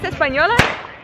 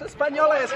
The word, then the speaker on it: españoles: How do you say it? Amigos españolas? Amigos españoles, but amigos españoles. Españoles. Amigo españoles. Amigo españoles. Okay.